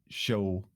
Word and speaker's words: Sjöö: say it's soo so it's it's hard for me to pronounce it in Swedish because that you can definitely not pronounce it then but yeah show show show okay like